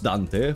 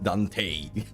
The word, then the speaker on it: Dante: That's how you're supposed to pronounce Dante. For once, it's you English speakers who are wrong pronouncing it Dante. Yes, it's a Dante.